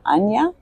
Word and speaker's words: Anya: So can you please tell me a little bit about your organization, Anya? Is that how you spell it? You pronounce it Anya? Yeah, that's it.